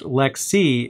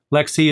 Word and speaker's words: LXC: or lxc for short lxc containers are actually pronounced lexi in the industry and i know that's weird don't hate me for that i'm just the messenger here lexi is just how it's